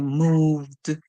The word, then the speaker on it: moved: Remember, ED at the end can say T, it can say D, or it can say id. So in this one, we're going to use the D sound because we can hear the last song at the end. Remember when you can hear the last song at the end, when it's a voice song, that's when you use the D sound, okay? So we hear moved, moved, moved.